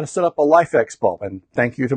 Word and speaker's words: LIFX: how to setup a lifx bulb and thank you to my viewer who pointed me the right direction I was saying LIF X but life x is is one of the pronunciations so that's what I'm